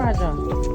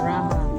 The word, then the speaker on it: Raha: Philippines raha sulaiman here Anong Raja Raja R raha you pronounce as raha Hunt ito picture tayo